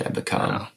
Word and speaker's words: Ebukam: Ebukam. Is that how you pronounce that? Yeah, it's Sebastian Ebukam.